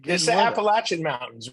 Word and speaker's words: Appalachian: Appalachian Mountains, right? It's Uh, not. It's not the Appalachian. It's the Appalachian.